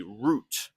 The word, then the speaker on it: route: A route is a way. Usually routes we say for directions of how to get somewhere. take this route. Also, sometimes people say root instead of route. Both pronunciations are fine, but the point is